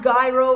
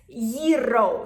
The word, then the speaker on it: gyro: And by the way, it's not gyro, it's not gyro, it's gyro. So you really have to roll your R's, fabulous.